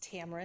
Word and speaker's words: Tamara: And I apologize if I mispronounced your first name. It's okay. It's Tamara.